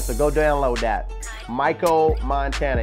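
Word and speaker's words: Mykko: let's talk about uh Michael Montana now this isn't Michael like Mike this is Micha it's spelled m y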